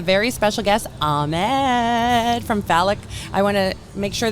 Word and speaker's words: Falak: here with a very special guest ahmed from phallic i want to make sure that i pronounce this phallic startups right yes okay great great great thank